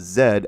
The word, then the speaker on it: Z: Z said as Zed as Brits pronounce it.